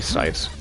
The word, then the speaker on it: Seitz: But yeah, it's probably Sights. Actually, yeah, that would make sense, because Seinfeld, it's spelt the same way, so like S-E-I-N, Sign, and then you got Sights.